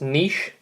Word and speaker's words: niche: key term is a niche market lots of people mispronounce that it's niche this is when we